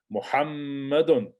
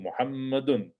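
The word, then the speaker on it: محمدٌ: It's a feminine name, it's Aishatu, Muhammadun, okay, not Muhammadu, Muhammadun, Sofiyatu, Khadijatu.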